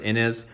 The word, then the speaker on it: Inez: Another option is I think it's pronounced Inez, I-N-E-Z, and he has a kit